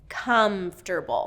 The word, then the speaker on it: comfortable: But native speakers reduce it to 3 syllables. Comfortable. So it's first syllable stress. Kum-fter. So it's an interesting combination between the F and the T. Fter. Kum-fter-bul. And then we have the dark L at the end.